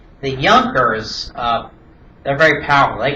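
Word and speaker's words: Junker: German the J is pronounced as a Y. The Yers uh they're very powerful.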